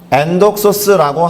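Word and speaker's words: ἔνδοξος: 발음은 엔독소스라고 합니다.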